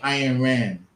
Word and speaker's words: Ayn Rand: Her name Ayn Rand. It's spelled AYN Rand.